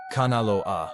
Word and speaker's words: Kanaloa: Kanaloa, pronounced Kanaloa, is the god of the deep ocean, the currents, and the hidden realms.